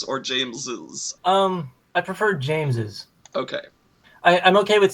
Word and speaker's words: James's: james's um i prefer james's okay i i'm okay with seeing it written as james but pronunciation wise to me i feel like it should obviously be pronounced james's okay and i feel